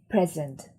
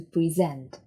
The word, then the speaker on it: present: would be present so if we're talking about a gift we say present the stress is on the first syllable but we're talking about a presentation we say to present the stress is on the second syllable let's look at when